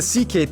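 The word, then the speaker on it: Székely: then we get to the CK people the second most populous minority yes that's how you pronounce it CK basically cousins of the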